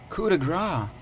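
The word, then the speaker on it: coup de grâce: Coup de grace.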